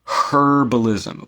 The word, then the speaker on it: herbalism: have an interest in herbalism or herbalism we don't pronounce the h okay I've had British